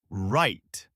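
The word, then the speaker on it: write: The W is silent. You say right.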